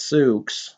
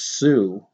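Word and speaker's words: Sioux: would have said no it's not Suk it's Sue the x is silent you dumb inbred hillbilly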